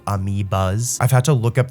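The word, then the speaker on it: amiibo: I just called them amiios by accident, but they're actually called amiias.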